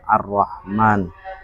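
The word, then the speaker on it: الرحمن: Jadi kalau di dulu itu enggak ada alif panjang seperti itu, tidak ada harakatnya. Jadi supaya tidak salah ya dibacanya pendek supaya dipanjangkan. Kalau arrahim kan sudah jelas ada ee ya-nya arrahman itu perintah Nabi supaya dipanjangkan alifnya arrahman.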